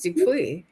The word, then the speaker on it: Dupuis: It is Dupuis. Yeah, I knew the S was silent, but yeah.